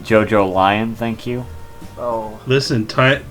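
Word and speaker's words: JoJolion: events of yeah yeah yeah but it's it's pronounced JoJo lion thank you oh listen time time is convoluted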